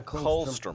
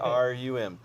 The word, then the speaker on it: colostrum: Comes out of Colostrum, yeah, colostrum. colostrum, Colostrum, yeah. I used to pronounce it. COLSTRUM, colostrum, and that What's is that?